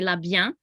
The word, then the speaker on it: La Bien: actually pronounce the n the n is kind of silent and it goes into a real nasally so you say la bian and then aime is